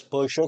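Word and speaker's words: Purtscher: P Ur t s c h e r persus retinopathy retinopathy pous retinopathy this te is silent that is called as pous retinopathy this has been asked several time these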